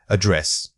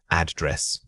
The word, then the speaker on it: address: Incorrect. Misplaced stress. Address. Correct. Stress on the second syllable. Address.